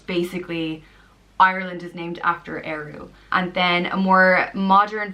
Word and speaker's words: Ériu: The next one is Ériu, and it means Irish goddess, and it's pronounced Ériu.